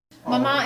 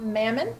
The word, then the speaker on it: Maman: one reference for everything Mama it means mother in French okay go so um it's and it's pronounced mama you don't pronounce the end it's not Mamon which we get often